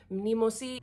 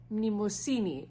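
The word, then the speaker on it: Mnemosyne: This is Nemesis. I looked it up and I still pronounced it wrong. It's pronounced Mnemosini.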